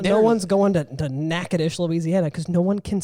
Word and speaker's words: Natchitoches: We call it Natchitoches, and you don't know how to spell that.